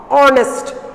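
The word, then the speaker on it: honest: ആർ, ഓണസ്റ്റ്, ഓണസ്റ്റ് H silent, ഓണസ്റ്റ് ആർ, അതിനൊക്കെ നമ്മൾ ആന ഉപയോഗിക്കുക, ബിക്കോസ് വവൽ സൗണ്ട് ഉള്ളതിനെ കൊണ്ട് ആൻ.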